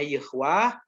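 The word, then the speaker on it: Yahweh: Kalau Yahudi 4 huruf sucinya YHWH, kalau orang Islam alif lam lam ha. Ya. Kalau Yahudi dibacanya Yahwah, kalau Tuhan orang Islam dibacanya Allah, ya.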